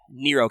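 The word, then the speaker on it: Nrvnqsr: from Sookie he may yes he writes his name that way but it's pronounced Nero but then they took the joke too far oh so by the way to my audience if you've ever seen Dvinsk err that's Nero it's supposed to be pronounced Nero Barnett oh but yeah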